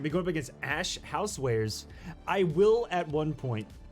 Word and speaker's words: Ash Housewares: I always say Warehouse. But it's Ash Housewares 445.